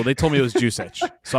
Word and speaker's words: Juszczyk: Kyle Kyle Juszczyk Juszczyk, okay. All right. Yeah. It's the easiest one of them all. Juice check.